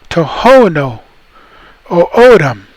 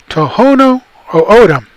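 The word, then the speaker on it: Tohono O'odham: But they say tohono o'odam, tohono o'odam, and papago. We used to say papago. Again, because we're O'otam, we're going to pronounce that word like papago.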